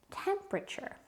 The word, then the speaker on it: temperature: Not every letter gets pronounced, so people forget about spelling them. The word is temperature. Is it A or B? It's option A. There is always an A in the middle. People say this word so quickly that you often don't hear it, and you don't hear them pronouncing that A.